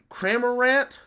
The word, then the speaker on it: Cramorant: the character but uh kramer rant i think is how you say their name is c tier for